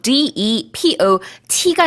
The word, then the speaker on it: depot: 창고라는 의미로 D-E-P-O-T가 있는데요. 이 T는 묵음이에요. 그래서 pot 아니고 그냥 po로 끝납니다.